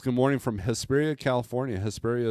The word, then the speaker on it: Hesperia: Hesperia is pronounced like diarrhea.